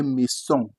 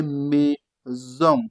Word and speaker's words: maison: When it's between vowels, you pronounce it Z. But usually it is S. But if it's between vowels, you pronounce it Z. Let's take some example. You have soleil. You're having a consonant and a vowel. And then you have to pronounce it S. Soleil. That is sun in English. Soleil. That is sun. Now see this one, they say maison. You don't say maison. No. You say maison.